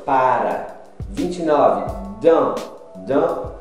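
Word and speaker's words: dans: Dan. Dan é dentro. Você não pronuncia a letra S, é dentro.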